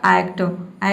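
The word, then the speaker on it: actor: इसमें जो आधा र का साउंड है इसको आपको क्या करना है, साइलेंट रखना है, प्रोनाउंस नहीं करना है, तो आपका प्रोनाउंसिएशन सही होगा।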